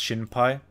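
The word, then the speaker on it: 心配: But in this kanji, it's pronounced shinpai.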